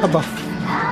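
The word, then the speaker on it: HBAF: Bumibili na kami ngayon ng pasalubong dito sa Buff. O naman, sabi Silent H daw, so Buff.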